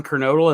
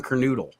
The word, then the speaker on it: Kernodle: know what's funny though there isn't a a definitive pronunciation of his name because half the wrestlers would say don kernodle and the other half would say don carnoodle yeah i i was